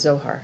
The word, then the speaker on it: Zohar: first word is zohar it is it's it's pronounced absolutely as zohar and then we have a dimensional passage and